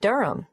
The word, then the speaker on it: Durham: at one uranga street durham how do you spell durham d-u-r-h-a-n of course i should know that but it's just one of those names that sounds quite different from the way you spell it it is confusing i've